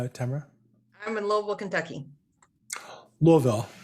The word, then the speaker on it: Louisville: Louisville. Looville. Louisville. You're missing a syllable there, honey. No, I'm just kidding. That's how I can tell you're legitimate when you say it like that. It is. I've lived here 19 years now, and I had to get educated on how to say the city name right.